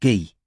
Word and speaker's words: Guy: sumai he's a designer it's pronounced gee said robin what his christian name it's pronounced the french way gee alright well could